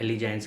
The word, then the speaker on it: allegiance: Spelling है ALLEGIANCE, एलिजाइंस कहते हैं उसे हम।